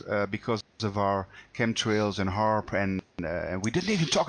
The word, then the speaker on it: HAARP: Let me just touch on HARP very quickly. The acronym, or the word HARP, it's spelled HAARP, stands for High Frequency Active Auroral Research Program.